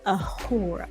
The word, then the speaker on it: Uhura: I say, think of like if a owl would say her name, Ahura. Ahura. Like a whore.